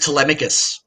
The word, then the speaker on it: Telemikus: How to pronounce the name? People have called it various things. It's actually just Telemikus.